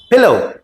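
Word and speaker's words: pillow: बोल सकते हो, लेकिन अंग्रेजी में वो चिल्ली नहीं, उसको चिली बोलते हैं। उस हिसाब से तो फिर किल्लर बोलो, विलेज बोलो, नहीं, that's wrong. The word is पिलो, पिलो।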